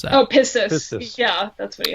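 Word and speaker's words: πίστις: And then he has, it looks like in Greek, and I don't know how to pronounce that. Oh, pistis.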